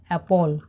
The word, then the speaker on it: apple: এই আপেলকে আমরা ইংলিশে বলি অ্যাপল, APPLE, যার বাংলা অর্থ আপেল।